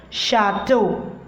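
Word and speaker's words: château: How to pronounce it? Chateau.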